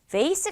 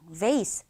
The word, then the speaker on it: vase: 미국 발음과 영국 발음이 완전히 다르기 때문이죠.